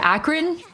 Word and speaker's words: Akron: I have just learned it's pronounced Akron. Akron. Okay. Akron. University of Akron.